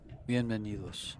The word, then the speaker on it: Bienvenidos: Bienvenidos.